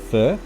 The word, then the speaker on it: phở: It's not "foe"—it's actually pronounced "fur."